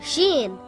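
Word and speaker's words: شين: three dots on top sheen is a light letter and should not be pronounced heavy sheen makes a similar sound to the sh in the word show or the word shoe this is what sheen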